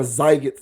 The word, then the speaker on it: Sziget: Sziget is spelled Sziget. Sziget or Zyget Festival.